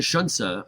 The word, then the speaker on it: Xunzi: you get down to Shunsa, there's nothing about Xunzi that makes you want to say Shunsa.